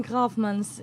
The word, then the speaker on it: Grafman: Good afternoon, Grafmans. Did I pronounce it correctly? Yes, even your G is okay.